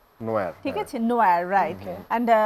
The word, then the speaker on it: NIOR: বানানটা ছিল NIOR, so normally যেটা হয় নিওর, বাট নিওর। ওটার উচ্চারণ ছিল নোয়া। নোয়ার, ঠিক আছে, নোয়ার, রাইট।